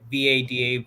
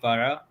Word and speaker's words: vada: Indian, we call it VADA, vara, but the D is kind of said this the same as this.